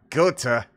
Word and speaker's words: Goethe: How do I say Goethe? I pronounce things wrong so many times that I want to at least say it correctly. Goethe. Oh, Gotha. Oh my goodness, I wasn't even close. All right. Gotha.